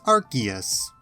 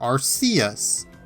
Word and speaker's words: Arceus: Among these Pokémon is Arceus, or Arceus, or Arceus. As Jaywitz tells us, there are 3 different pronunciations given to us from arguably official sources.